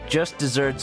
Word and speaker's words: just deserts: the explanation in chat despite its pronunciation just desserts with one s is the proper spelling for the phrase meaning the punishment someone deserves the phrase is even